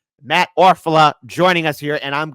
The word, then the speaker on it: Orfalea: content creator to say his name right, Matt Orfalea, joining us here, and I'm gonna say it with the belt.